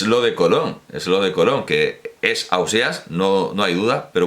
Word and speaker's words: Ausiàs: argumento concluyente no es en gandia dice ausiàs ya está pues es ausiàs no es concluyente y